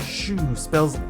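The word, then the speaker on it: choux: Shoe sounds like shoe, which to be fair is a bizarre way to spell that sound. With that silent X on the end.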